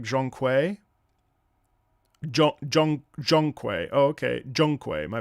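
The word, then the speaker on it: Zhong Kui: It's pronounced more like Zhongkui.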